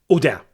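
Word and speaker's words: Robert-Houdin: inspired by the French magician Jean Jean Robert Huden Udam. Sorry because the H is not pronounced obviously, but I'm pretty sure that I butchered its name regardless.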